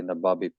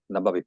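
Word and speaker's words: Nababeep: mining town called nabab There's different ways to pronounce that but I say nabab some say nabab so there's a discussion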